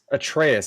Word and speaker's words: Atreus: Kratos and it's why can I never pronounce it anymore? Atreus, that's it.